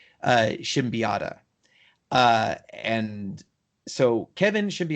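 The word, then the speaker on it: Siembieda: to say his name we probably just say seen betta but um one time I got a chance to meet him and I was instructed that it's pronounced Shem piata and so Kevin should be oughtta of palladium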